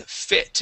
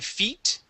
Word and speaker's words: fit: go to a running fit and we're going to focus on the short eye instead of running feet this is running fit run and fit okay